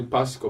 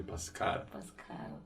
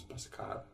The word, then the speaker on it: Pascal: pascal most people say pascal by supposed to be pascal yes because it is a french name when you say pascal